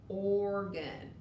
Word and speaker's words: organ: a long o sound here's another tricky one organ when o is next to the r we really just hear the r we don't hear the o but organ does